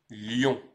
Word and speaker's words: Lyon: que l'on appelle celle-là Lyon il ne faut pas confondre avec l'animal qui lui se prononce aussi lion mais attention l'orthographe est